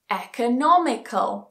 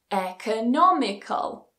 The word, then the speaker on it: economical: magical magical historical historical a longer one economical so again doesn't matter what's before it the stress still goes on the anti-penultimate syllable economical finally rule number eight